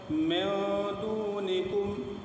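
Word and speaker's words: دونكم: دونکم، دونکم، ہجے اس طرح کریں گے، میم نون زیر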